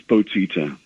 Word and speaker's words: Bottitta: batita I tried I I was calling the wrong number yesterday am I pronouncing your last name correctly yeah it's close enough it's boti Yeah by any name